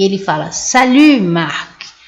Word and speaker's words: salut: E ele fala salut Marc. Você fala, então aqui eu não pronuncio o T, ele falou salut Marc, né?